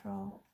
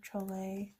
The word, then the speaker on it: Trolle: I really like the images of Maria Troll, or Trolle. I've heard it pronounced both ways.